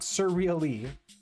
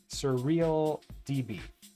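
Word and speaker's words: SurrealDB: that except you so it's not actin web it's act Dix web please and not surre e surreal DB thank you yeah I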